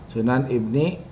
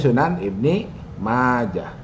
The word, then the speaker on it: Sunan Ibni Majah: Al-masadirul asliyah, Sunan Ibni. Nah, ini Sunan Ibn. Yang benar Sunan Ibni ya, bukan yang benar, bacanya Sunan Ibni Majah.